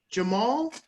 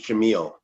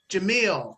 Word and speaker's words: Jamil: We have Jamal. Is that I pronounced it right? Good morning. No, my name's Jamil. Jamil.